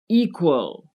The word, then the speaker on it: equal: Equal, travel, control. With equal, the stress is on the first syllable, equal.